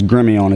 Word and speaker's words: Gremillion: tabs on you and uh give us a pronunciation your last name one more time Su is Grimmy on its French grimon yes that's well that's an